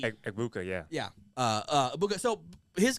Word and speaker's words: Egbuka: In the draft, I had them drafting Ohio State national champion Emeka Ibuka, wide receiver. I said it right for I sure. call him Double E. Egbuka, yeah.